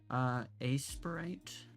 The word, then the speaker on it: Aseprite: Aseprite. Aseprite. It's spelled like, here, I'll just type it out.